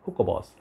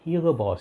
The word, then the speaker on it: Hugo Boss: mL of Hugo Boss I heard Stephen from adolescent say hookah boss I think Paris does the right way to say but I love to brag about here you go man it's Hugo Boss you know you try